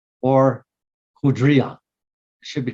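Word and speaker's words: hydria: This particular vessel is called the hydra or hudria. It should be pronounced more of a D, like hudria.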